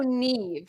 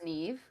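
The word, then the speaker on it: Niamh: how it's pronounced so Neeve so it's a Celtic name so it's spelled like n i a MH but it's pronounced Neeve um oh you give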